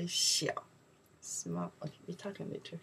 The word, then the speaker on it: 小: Maybe you can know the character, we say xiao.